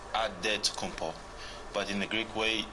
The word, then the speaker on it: Antetokounmpo: At the elbow, it's Antetokounmpo.